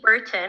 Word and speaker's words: Burton: she is our senior food scientist so katie burton am i pronouncing that correctly your last name katie i